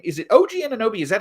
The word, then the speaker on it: Anunoby: Is it OG Anunoby?